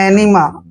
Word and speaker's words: enema: Next word ENEMA, ई का उच्चारण हम यहाँ पर ए कर रहे हैं, एन को हमने न पढ़ना है, ई को ई की मात्रा पढ़ते हैं और MA को माँ पढ़ेंगे। एनिमा, एनिमा, एनिमा मीन्स होता